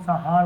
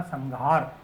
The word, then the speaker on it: संहार: कुछ लोग संहार बोलेंगे, कुछ क्या बोलेंगे, जबकि ये बोलेगा आपका संघार। अब ये घ कहाँ से बोल रहा है भाई? ये इसलिए बोल रहा है कि है का उच्चारण स्थान कंठ है और है का उच्चारण स्थान कंठ होने के कारण कंठ का जो पंचम वर्ण होता है वो गे होता है और गे होने के कारण हमने क्या बोला है इसको?